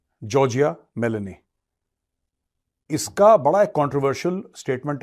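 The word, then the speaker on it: Giorgia Meloni: ठीक है, ये तो जॉर्जिया मेलोनी, this is हाउ you pronounce the name, जॉर्जिया मेलोनी।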